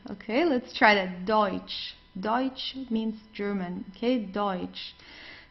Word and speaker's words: Deutsch: So we very often have this combination of e and u. So it's oi. Okay. The pronunci pronunciation is oi. Okay. Let's try that. Deutsch.